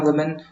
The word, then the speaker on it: women: ठीक है, WOMEN ये होता है वुमेन, बोलते विमेन है, लिखते वुमेन है।